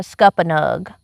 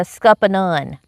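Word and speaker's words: scuppernong: whole life growing up, I didn't call that a scuppa nug. I called it a scuppa nun because that's what I've always called it. Yeah, because that's we're just pronouncing it right because we're on the live stream. Yeah, we're we're being um correct.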